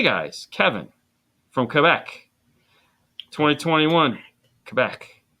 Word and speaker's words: Quebec: Kevin from Quebec 2021 Quebec that's how you say it Quebec yeah it's like quec is quec no it's it's French bro you just you don't